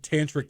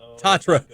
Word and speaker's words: Tatro: be like, Fisher said tantric the other day. I was like, whoa, no. Not tantric. Tatro. No, Fisher. He's 5, so he doesn't know. He just mispronounced it.